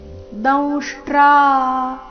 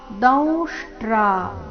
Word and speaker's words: ದಂಷ್ಟ್ರಾ: ಶಂತಿ ದೌಷ್ಟ್ರಾ ಕರಾಲಾನಿ ಭಯಾನಕಾನಿ ದೌಷ್ಟ್ರಾ ದೌಷ್ಟ್ರ ಅನುಸ್ವಾರದ ಉಚ್ಚಾರಣೆ ನಾಸಿಕಾವ ರೀತಿ ದೌಷ್ಟ್ರಾ ಕರಾಲಾನಿ ರಸ್ವನಿ ಭಯಾನಕಾನಿ ಮತ್ತೊಮ್ಮೆ